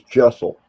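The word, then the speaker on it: deosil: In the clockwise, it's known as jessel. It's spelled G E O C I L, but it's pronounced Jessel.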